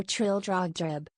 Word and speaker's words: Trildrogdrib: It contained a warrant for conducting me and my retinue to Trildragdub, or Trildrogdrib, for it is pronounced both ways as near as I can remember, by a party of 10 horse.